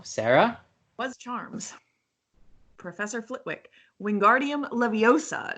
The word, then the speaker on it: Wingardium Leviosa: but mmm suspense or how do you pronounce us Wingardium Leviosa that's right sir mm-hmm what does